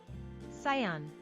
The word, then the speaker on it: Scion: that's an automobile company Scion is that cion cion pronunciation cion cion okay it is cion descendant child oh Canan